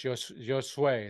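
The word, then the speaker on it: Josué: So it's Josue. It's kind of a YJ kind of combination.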